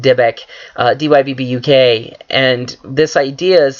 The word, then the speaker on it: Dybbuk: There is a very interesting idea of exorcism in the Judaism or in the Jewish faith that deals with what I believe is pronounced Dybbuk, D-Y-B-B-U-K, and this idea